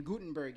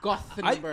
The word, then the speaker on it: Gothenburg: like yeah I'm so we're here in in Gutenberg he's like it's gothenberg and make sure you let kubani know specifically that it's pronounced gothenberg I think he was that sounds like him